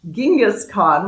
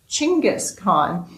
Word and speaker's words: Chinggis Khan: I used to call Genghis Khan, which I have learned now is actually pronounced Chinggis Khan, you'll see my post about my past life here.